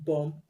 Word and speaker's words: bomb: i pronounced it dom the word bomb the b is silent as i pronounced it bomb and not bomb i hope you understand